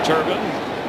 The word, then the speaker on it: Turbin: Say it right. Again, it's Turbin.